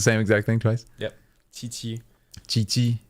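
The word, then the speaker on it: Qiqi: twice yep chii chii but it's like the with like a t m not like a t like a very thin CH that said instead of through the like the back of the mouth it's said through the front of the mouth ch ch ch Chi mhm tough but okay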